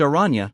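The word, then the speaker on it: Araña: He informs her that each hunter chooses their own name, so Anya picks her mother's maiden name, Arana, pronounced Arana, meaning spider in Spanish, and designs herself a costume.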